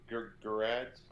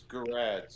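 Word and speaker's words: Gerads: Gerards? I don't know. No, he told me one time. I think it's Gerrard's. It's not like Gil Gerard, Buck Rogers. It's Gerrard's.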